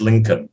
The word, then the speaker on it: Lincoln: but that's a hard one l-i-n-c-o-l-n-col but it's pronounced lincoln yeah were his parents happy to see him